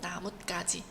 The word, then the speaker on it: 나뭇가지: 나뭇가지 까로 발음이 되는 겁니다.